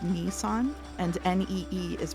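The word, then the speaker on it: 兄さん: to tell you that nii son is pronounced Nissan and Ne is pronounced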